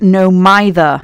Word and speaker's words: No Mither: Side note, it's pronounced no mither.